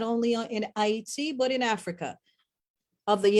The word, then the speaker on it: Haiti: Haiti is the original pronunciation. Hate is what the European decided to pronounce it as.